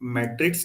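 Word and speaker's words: metric: जब आप मैट्रिक्स कहते हैं ना, ये वाला, तो वो ये है मैट्रिक्स। इसको बोलते समय मैट्रिक्स ही हुआ, और जब आप इसे बोलते हैं तो बोलते समय मीट्रिक आना चाहिए।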